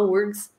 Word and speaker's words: UFRGS: algum lugar da sigla tem um f mas ninguém pronuncia o pessoal fala ufrgs e existe uma espécie